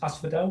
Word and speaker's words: asphodel: Well done to Hazel and Stephen, who got Oh, is it asphodel? Yeah. Asphodel. I was just checking the pronunciation.